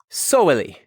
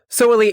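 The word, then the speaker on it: soweli: be in a big collection here we have soili s o w e l i solely is drawn with an abstract representation of an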